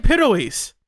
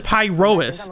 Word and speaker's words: Pyrois: They're saying Pyrois. They're saying like the actual Greek pronunciation. That's that's that's how you're supposed to pronounce it. But Bell says Pyrois.